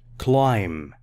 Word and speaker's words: climb: don't climb the fences climb silent be don't say be climb fences do not stand on